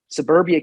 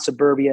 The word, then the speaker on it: Soberbia: And Soberbia is spelled Soberbia, Soberbia. And it's a play on words. Like you said, it's not suburbia in the way of like living in the burbs outside the city.